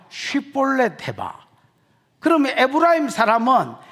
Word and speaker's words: 십볼렛: 야, 십볼렛 해봐. 그러면 에브라임 사람은 이 쉽 발음이 안 된다는 겁니다.